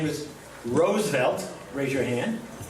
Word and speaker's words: Roosevelt: Roosevelt or Roosevelt?" He said, "Like the flower." It's Roosevelt.